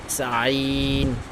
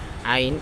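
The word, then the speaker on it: عين: তারপর আইন, এটা জানিস হলকের মধ্যখান হইতে উচ্চারণটা হয়, ঠিক আছে। আইন আইন আইন আইন একটা পাতলা করে পড়বে, ঠিক আছে, একটু কঠিন বাট আইন আইন।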